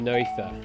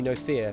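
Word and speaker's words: Noether: Uh no ether. No theory. Sorry. No theory. or no fear. I guess it would be Emmy no fear because it doesn't have the re on the end.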